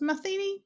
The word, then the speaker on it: Matheny: I'm now thinking I pronounced your name wrong after asking how it was. Matheny? That's right, Matheny. Is that right? Matheny, you've got it.